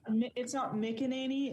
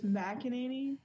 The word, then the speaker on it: McEnany: It's not McEnany, it's McEnany. Okay. Yeah, she's not a Mick. She's a Mac.